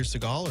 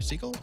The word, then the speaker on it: Segal: will be there, Peter Seagal or Peter Seagull. How do you say his last name? S E G A L. I think you could probably go either way, right? Seagal or Seagull.